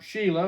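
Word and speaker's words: Shelah: So now we get down to the third son who is Shalah or Sheila if you want to pronounce it that way said then this is verse 11.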